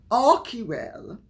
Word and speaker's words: Archewell: Because remember, Archewell, as it should be pronounced, only earned less than $50,000 last year for its charity arm.